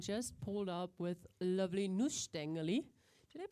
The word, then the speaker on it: Nussstängeli: It's a Mini Nussstängeli. How do you want to kind pronounce of give that?